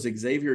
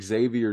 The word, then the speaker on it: Xavier: couple of days that Xavier does not start with an eks it's spelled with an X it's like no ex savior I understand how it phonetically sounds yeah trust me on